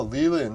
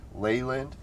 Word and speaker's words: Leland: It's like you could say it the French way, Leland. You could say it the Old English way, Leyland. Or you could say it the American way, Leland.